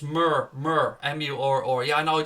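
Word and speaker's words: Murr: It's Mur, M-U-R-R. Yeah, I know, I just can't pronounce it, mate.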